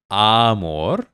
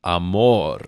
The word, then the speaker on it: amor: And the emphasis on the word is amor. It's not amor. It's amor.